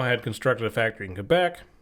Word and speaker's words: Quebec: Okay, so so the Renault had constructed a factory in Quebec. I got corrected by somebody once. It's Quebec. And I'm like, no, it's French. You say it like a K.